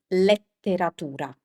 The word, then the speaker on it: letteratura: This in Italian is letteratura. Letteratura. But what Colin is doing here is that he's pronouncing the E as an E, which is how you say this word in English, because you say literature. So it's so easy to